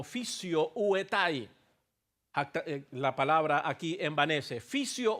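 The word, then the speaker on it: φυσιοῦται: está usando un verbo llamado o mejor dicho que se pronuncia como fisio uetai.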